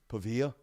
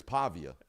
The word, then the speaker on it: Pavia: fourth suggestion would be pavilla ah come too much too much we're not even pronouncing that correctly I'm pretty sure it's Pavia yeah everybody I think